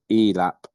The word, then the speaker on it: ELAP: Just while Ferda is preparing, I'm told by Rebecca that the Asgardian language version of Live Long and Prosper is pronounced ELAP, apparently.